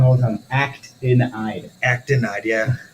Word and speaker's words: actinide: Acidanide is also You say it wrong all the time. Actinide.